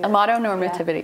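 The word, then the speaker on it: amatonormativity: Amato normativity. Yeah. It's spelled exactly like it sounds.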